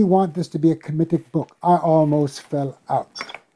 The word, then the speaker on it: Kemetic: and myself, we want this to be a Kemetic book. I almost fell out. What? This woman had been, and I need to mention the Asar Aset Society, which contributed to... You said a committed book? Kemetic. Kemetic.